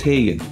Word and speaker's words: Hegent: gelic family name and when I looked up pronunciations it was haen and it's also the easiest to pronounce of those other options so for this review I'm probably going to be calling it The haen the other thing that's